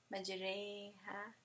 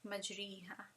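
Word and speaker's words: مجريها: Majreha, ray. You're never going to actually use imala in Arabic letters, except for this one instance where Hafs pronounced majreha instead of majriha, right?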